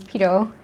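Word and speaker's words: Pierrot: it, but the band Pito is actually one of my favorites. It's like, it's spelled P-I-E-R-R-O-T, but I kind of say it the way the Japanese fans say it. It's a French word though.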